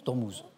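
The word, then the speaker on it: Ormuz: détroit dormuse dormuse dorm dormous dormous dormous hein oui c'est u mais on prononce ou le destroit dormous an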